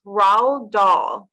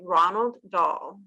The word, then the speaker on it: Roald Dahl: And so it's Roald Dahl, but I want to say Ronald Dahl. No, it's just Roald Dahl. Okay, so So yes, it sounds like the D is silent. Roald Dahl. Yeah. Okay. I think it's just very, very slightly there. You know, you have to sort of speak in a bit of a posh English accent.